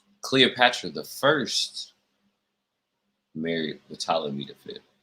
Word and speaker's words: Ptolemy: the first married the ptolemy defeat it's holding me the fifth i keep putting the p in it because i hate silent letters i'm sorry i actually